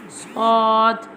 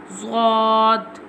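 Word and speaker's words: ض: Zad. Now we telling the pronunciation of zad. Zad pronounced from the sides of the tongue touching the roots of the upper molar top back teeth like this zod zod.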